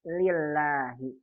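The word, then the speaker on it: لله: Tapi kalau tidak ada alifnya berarti ini bacanya lillahi.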